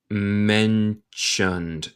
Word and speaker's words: mentioned: As I mentioned. Note mi pronunciación. Suena como CH aquí. Mentioned.